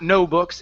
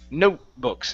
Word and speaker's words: notebooks: there is a difference so we pronounce half of the T sound if you don't pronounce half of the T it sounds like you're saying no books and we can't say that it's not no books it's note notebooks and when I say